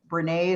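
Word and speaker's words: Brené: is google brene brown brene is spelled just like renee um brown and uh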